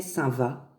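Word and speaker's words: Saint-Vaast: Saint-Va. Saint-Va, ça s'écrit V2AST.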